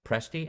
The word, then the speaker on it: Presti: believe next up is Rebecca presti am I pronouncing last name right Rebecca yes you are and the first name